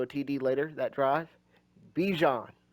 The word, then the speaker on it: Bijan: Bijan, or Bajan, you want to say it properly, but I just prefer Bijan, I ain't going to lie to you. And I know his name's Bajan, but Bijan just sounds much better.